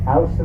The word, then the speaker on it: Houston: Houston is the correct pronunciation. Çıktığımız yer. You may see it and want to say Houston. Tek Don't. olarak. If you say Houston, you are out of town.